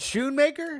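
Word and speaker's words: Schoonmaker: bit here she I'm going to go with scoon maker man okay backup tight end no Jake Ferguson I think scoon maker had 12 Sho maker but I got you is it Sho maker the sea is silent yes oh like Schultz Schultz well in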